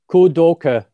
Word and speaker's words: Kudoke: So what we're going to talk about then in regard to the Kudoke, is that pronounced right? Is it pronounced with a soft E at the end? Kudoke, yeah. Kudoke. Kudoke, okay.